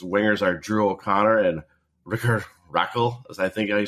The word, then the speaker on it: Rickard: His wingers are Drew O'Connor and Rickard Rakell, as I think I say it. I always want to say Richard, but it's Rickard, and then Rakell, R-A-K-K-E-L.